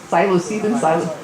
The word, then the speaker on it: psilocybin: And something that's working really well for anxiety and depression is, I think it's psilocybin, I don't remember, psilocybin, okay, somebody out there pronounced it right.